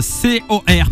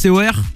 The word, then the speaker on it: C.O.R: Ils sont là, C-O-R, parce que je dis Cor, mais en vérité, ça se prononce C-O-R.